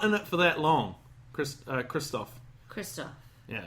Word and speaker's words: Christoph: the amazing Christoph Waltz is in this movie, and he's not in it for that long. Christoph. Yeah, it's not Christopher. It's Christoph.